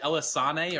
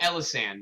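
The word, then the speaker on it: Elisanne: Do you pronounce it Elisane or Elisan? I don't know how to pronounce it. I say Elisan. I think I do Elisan because when the Halloween event came around, everyone started calling her alt Helisan. Ah, okay. Because they don't say it ever in the story, so I wasn't sure.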